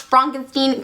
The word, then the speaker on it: Frankenstein: The name is pronounced Frankenstein.